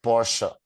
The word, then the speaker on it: Porsche: uh when e is when e comes at the end of the word how do you pronounce it like Porsche like dunker like a little uh sound not ah like not Danka these are the two